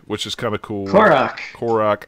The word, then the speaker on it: Korok: Korok. I can never pronounce it right. You know me and pronunciation. You're adding an O on the end.